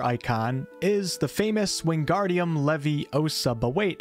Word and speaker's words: Leviosa: is the famous wingardium Levy osub await it's actually not as it's spelled levioso Leviosa is the levitation charm used to